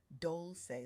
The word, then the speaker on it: Dolce: I'm your host Doli pronounced dolce like sweet softness whispered in French.